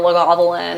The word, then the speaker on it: Lagavulin: they can't pronounce Auchentoshan or Lagavulin or Glenfarclas.